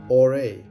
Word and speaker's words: AURÉ: Oh, pronunciation? AURÉ, like the gold it's named after.